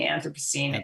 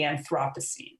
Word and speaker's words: Anthropocene: to call it the anthropocene and brits call it the anthropocene so it's just a sort of a matter of stress there good i just don't